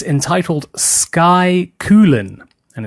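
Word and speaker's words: Cuillin: mainland the mountain range there on is named coolin this is spelled see you I ll I n sure it's pronounced coolin so please enjoy and we will see you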